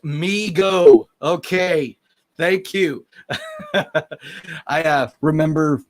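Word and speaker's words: Mego: that point um neil it's pronounced me go okay thank you i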